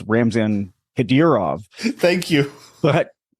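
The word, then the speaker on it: Ramzan Kadyrov: audience uh who may need a translation it's ramzan hedirov thank you but it's you sure we're closed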